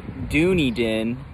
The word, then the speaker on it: Dunedin: you from Lawrence we're on our way to Dunedin AKA Dooney Den how the locals say it we just stopped